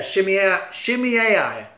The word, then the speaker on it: Shemaiah: And the prophet shows up, the prophet Shemaiah. Let me see, what's that? How do you say his name? Yeah, Shemaiah.